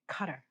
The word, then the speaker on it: Qatar: Um, how do you pronounce Q A T A R Qatar? There's such a controversy over people pronouncing it cutter.